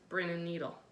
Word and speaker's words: Brin & Needle: of the company is, I pronounce it Brin & Needle, but I'm not 100% sure that's how they pronounce it, but it's BRIN and NEDLE.